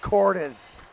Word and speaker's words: Cordes: For the last time, his last name is pronounced Cordes.